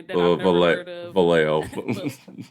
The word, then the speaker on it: Vallejo: Vallejo. Vallejo? Yeah, Vallejo, Okay, that's how you say it.